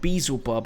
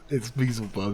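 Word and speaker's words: Beelzebub: reese what do you think do you think bezel bob has sent out a load of his boys to cause havoc on the world i think it's pronounced bl's above by the way it's called weasel bomb beazlebub he's a different guy he sounds like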